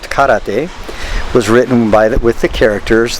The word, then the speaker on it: 空: was to change that first character from To, which can also be pronounced Kara, to what we now know as Kara, or empty hand.